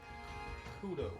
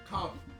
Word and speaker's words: Kabu: Or Kado. Kudo. What the fuck his name is? Kabu.